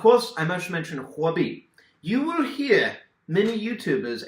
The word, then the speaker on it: Huobi: Google oh dear alright if you're actually speaking Chinese it would be hobby not COO OB that is a mispronunciation but hey not that